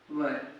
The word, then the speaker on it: were: आप लोग देखिए, यूज ऑफ वाज वर। ठीक, कई बच्चे इसको वेयर ही पढ़ते हैं, वेयर, लेकिन इसका सही प्रोनाउंसिएशन तो वर होता है।